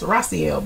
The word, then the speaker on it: Raciel: Raciel. Okay, I apologize. Raciel, but it was Rachel in the 4th grade.